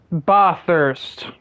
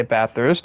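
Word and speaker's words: Bathurst: Ba thirst. Are you a sheep? Well, that's just how the track is pronounced. Everyone that's not Australian will say ba thirst.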